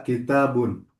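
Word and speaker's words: كتاب: Hadza kitabun. Nah, hadza kitabun. Nah, tanya-nya harus panjang ya, Bi. Kitabun. Heeh. Hadza kitabun. Jadi, ada huruf alif setelah ta.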